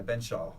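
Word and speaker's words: Benzschawel: Yeah, Ben Shaw. It's not that hard, Ben Shaw.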